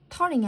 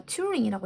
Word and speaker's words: 튜링: 이름이 앨런 터닝이 아니라 튜링이라고 읽어야 되겠네.